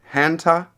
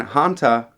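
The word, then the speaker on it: Haňťa: lover of literature um hanta i believe is how you pronounce his name not not too sure but it's h-a-n-t-a and hanta um reads reads everything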